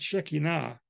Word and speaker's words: Shekinah: So pronounce it right, Shekinah.